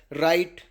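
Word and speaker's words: write: देखते हैं अपन जैसे व व साइलेंट होता है किसी वर्ड की शुरुआत में अगर व के बाद ए रहा है क्या ए रहा है व के बाद आर आता है तो व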